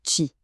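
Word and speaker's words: Qi: Le premier réflexe, c'est de chercher le logo qui, ça se prononce chi.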